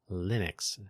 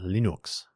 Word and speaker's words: Linux: change his name to, I believe his normal pronunciation was Linus. So he pronounced his kernel Linux. But then when he moved to America, he preferred Linux, although I think he goes by Linus Torvalds instead of Linus.